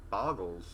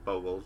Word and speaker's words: Bogles: Today I'm actually going to be playing Morgan and I'm going to be playing Boggles, or Bogles depending on how you like to pronounce it.